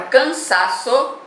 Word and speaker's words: cansaço: A palavra cansaço, eu não tenho acento, eu vou descobrir chamando, né? Aí você já descobriu que a última é o so, a penúltima é o sa e a antepenúltima é o can. Então, ela é uma palavra paroxítona porque ela tem como sílaba tônica a penúltima.